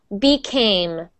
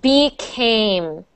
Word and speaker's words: became: another a sound so ay ay ay became a a a B Kim became be Kim so not be cam but became become a a a became